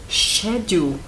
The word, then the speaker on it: schedule: School schedules School schedules Há outras maneiras de se pronunciar por exemplo Schedule pode ser pronunciado shedule dependendo do local onde você está no mundo que quer dizer isso